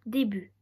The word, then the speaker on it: début: Exemple, le début. Le début, il y a un T à la fin à début.